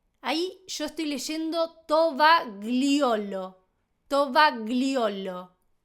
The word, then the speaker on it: tovagliolo: Tovagliolo.